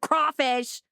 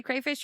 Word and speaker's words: crawfish: Well, at least I say it right with crawfish. Crawl, cray, whatever. Let us know how you guys say it. Yeah, let us know. And if you say crayfish, you're wrong.